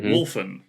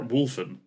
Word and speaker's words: Wulfen: So, your word for today is Wolfen, or Wulfen, however you want to pronounce it.